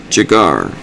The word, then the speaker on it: Jegar: It's spelled J-E-G-A-R. Jagar.